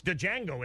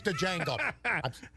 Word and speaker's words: Django: The D is silent. You found that out? It's Django, isn't it? Okay. I thought it was Django.